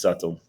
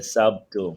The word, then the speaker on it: subtle: b t l e a lot of my students they make the mistake and they say sub to no but Ivan said